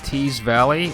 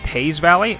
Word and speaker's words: Teays Valley: for playoff football so uh big win over teas Valley act and I apparently it's pronounced Taz Valley according to the uh announcer at the game